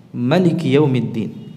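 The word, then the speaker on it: ملك يوم الدين: ini Mutawatir dalam keadaan Maliki dengan memendekkan mimnya dan bacaan ini yang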